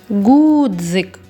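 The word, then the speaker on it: ґудзик: Гудзик. Гудзик. Гудзик. Більш наголошеним є звук у. Над ним і ставимо наголос.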